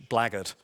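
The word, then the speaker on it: blackguard: also does occur in another word in English blaggard which is spelt BL ack GU ard the meaning the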